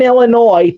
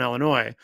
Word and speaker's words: Illinois: Now she lives in Kenosha, Wisconsin, but she did live in Illinois, and she would always it would always bother her when she would hear people say Illinois because the S is silent.